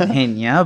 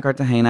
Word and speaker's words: Cartagena: A lot of people pronounce it Hena, but it's Cartagena.